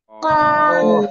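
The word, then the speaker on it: كاف: করবেন কাফ একসাথে বলেন কাফ মাশাল্লাহ এবার আমরা এই অক্ষরটা পড়বো জিহ্বার গোড়া থেকে একটু আগে বাড়াবো বাড়িয়ে আমরা উচ্চারণ করব কাফ চার আলিফ টান হবে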